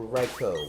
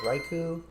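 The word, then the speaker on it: Raikou: our last one that being Raichu or raicho whatever you want to pronounce it as I'm going to go with raiku but that's just me I haven't seen it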